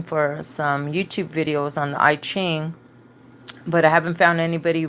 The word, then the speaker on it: I Ching: Self had told me the itching which I guess is pronounced I Ching so I know a